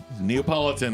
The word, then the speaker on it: Neapolitan: I'm like, yeah, the Napoleon ice cream thing, huh? I knew it. Neapolitan is how you pronounce it.